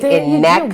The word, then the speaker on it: Ineka: Ineka, I am still learning how to pronounce your name. So it is in fact Ineka, correct? Rhymes with Rebecca is what Kimberly has told me. Ineka.